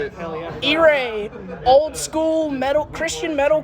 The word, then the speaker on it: Irae: you say it that's how you say it eay old school metal Christian metal Corps from Washington